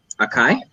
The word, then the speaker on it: Akai: Akai?